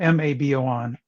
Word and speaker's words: Mabon: litha and then um the fall Equinox is pronounced or is it spelled m-a-b-o-n m-a-b-o-n mabon and then there's